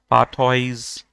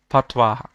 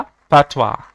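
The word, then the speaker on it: fatwa: कुछ लोग इसे बोलेंगे पाथॉइज, बट the pronunciation of this word is फतवा। ठीक है, याद रखना इंपॉर्टेंट वर्ड है ये इंग्लिश के लिए। प्रोनाउंसिएशन क्या है इसका? पैथवा।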